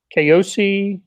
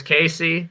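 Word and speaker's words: Kaosi: for the utep transfer keiosi izagu oh man not even close uh casey believe it or not his first name is casey i'm gonna write that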